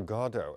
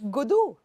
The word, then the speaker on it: Godot: Yeah, what is the correct The British say Gado. And what do you say? It's British. I get confused now. Well, it comes out every which way. As Elizabeth. Godot. Yes, that's Elizabeth. How do you say it en français, Elizabeth?